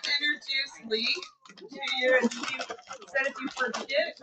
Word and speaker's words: Lea: I'd like to introduce Lee to you. If you forget, when you see your name tag, it looks like Leah, but if you remember T, it rhymes with Lee.